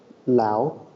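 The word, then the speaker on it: Laos: do you pronounce it Lao Lao yeah Lao huh I I was uh I I always thought it was LA but it's Lao so the S is silent yeah yeah and where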